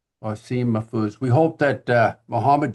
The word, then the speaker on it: Wassim Mahfouz: Can you pronounce it properly? Wasim. Yes, it's Wasim Mafuz. Wasim Mafuz.